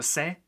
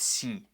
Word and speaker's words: c: Today we're going to learn how letters se, ese, and zeta work in Spanish. Now let's go. We begin with letter se. Yes, it's pronounced se and not si.